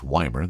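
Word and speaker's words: Ymir: In fact, just a little south of Nelson, near a town called Weimar. Again, a cute little town if you've never been there. That's Y-M-I-R, and it's Weimar. That's how you say it.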